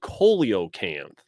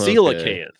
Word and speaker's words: coelacanth: No, they call it coleocanth. Oh, It's a coelacanth. It's always been a coelacanth.